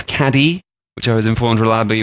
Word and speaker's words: Cádiz: He made a visit down to Cádiz in the south of Spain, spelt Cadiz for us English people who can't pronounce it properly, but I was informed reliably that it is Cádiz, which I was informed reliably when I was on a walking tour there.